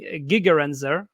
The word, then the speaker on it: Gigerenzer: feelings and so uh gerd genser uh gigerenzer uh actually is the right pronunciation I believe uh who's the author